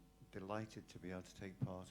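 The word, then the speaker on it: tau: particular protein which is probably supposed to be pronounced to but has been anglicized to be pronounced tow um that is found in PPA syndromes and actually it's found across many syndromes.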